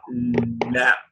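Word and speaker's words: لام: So this its articulation point is in the front edges of the tongue, whereas the body is from the posterior edges of the tongue.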